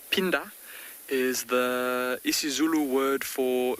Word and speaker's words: Phinda: Gypsy, Phinda, or I think more correctly pronounced Phinda, is the isiZulu word for return.